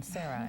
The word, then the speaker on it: Serah: now is s Blain and Sarah is a much prettier pronunciation than Sarah and I was gently chastised for that SAR is a beautiful name uh with the secular